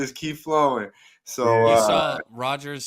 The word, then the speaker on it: Rodgers: Aaron Rodgers, not Richards.